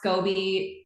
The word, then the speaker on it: Scobie: time but now it's easy so now it's scobby you can either it's either two ways to